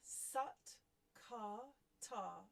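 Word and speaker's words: Sat Kartar: And we're using the mantra Sat, KARTAAR. So that's S-A-T, but pronounced S-U-T, KAR, K-A-R, and then T-A-A-R.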